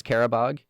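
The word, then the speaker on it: Qarabağ: I think it's Carabog. Um, but it's spelled Q A R A B A and the G kind of has this um special character to it.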